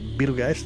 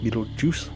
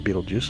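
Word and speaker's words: Betelgeuse: We'll look at Beetlegeist, the star Beetleg, Beetlegeist, Beetlejuice, whichever you want to pronounce. Definitely not Beetleju though, you know.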